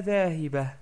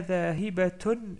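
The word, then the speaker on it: ذَاهِبَةٌ: Si je m'arrêtais, je dis Ana dhahiba. Ok. Mais là, comme je continue la phrase, je dis Ana dhahibatun ila Toulouse. Donc je prononce bien la ta marbouta.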